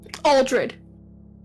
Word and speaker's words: Aldred: I pronounce his name I always say Al but I don't think that's right aldred aldred okay yeah like the E Yeah I over to